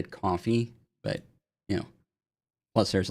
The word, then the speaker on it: Ko-fi: I think I read once that they wanted it to say coffee, but you know, plus there's like a little coffee cup on the thing.